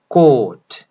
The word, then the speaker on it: caught: अब इसके बाद वाला ऑ का साउंड ही लंबा हो जा रहा है, CAUGHT को प्रोनाउंस करें, राइट, कोट।